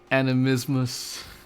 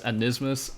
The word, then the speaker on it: Animismus: Glyph of animismus. I've literally always seen this as anismus, and I've always pronounced it as anismus, but it's not anismus, it's animismus.